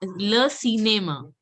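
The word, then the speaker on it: cinéma: Le cinema. I is to be pronounced as E. So it has alphabet E. So it has to be pronounced as Le cinema.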